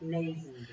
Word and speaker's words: Lazenby: How would you pronounce that? Lazenby.